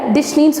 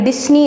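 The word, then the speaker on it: Disney: ஸோ இங்கே ஜெட் இருந்துச்சுன்னா நீங்கள் டிஸ்னின்னு சொல்லலாம். அதே மாதிரி சி இருந்துச்சுன்னா நீங்கள் டிஸ்னி அப்படின்னு சொல்லலாம். பட் இங்கே இருக்கிறது எஸ். ஸோ இந்த எஸ் நம்ம எப்படி ப்ரொனவுன்ஸ் பண்ணுறோம்னா இஸ்ன்னு ப்ரொனவுன்ஸ் பண்ணணும், அதை இஷ்ன்னு ப்ரொனவுன்ஸ் பண்ணக்கூடாது. ஸோ இந்த டிஸ்னி இல்லை, டிஸ்னி. And next word is Nike.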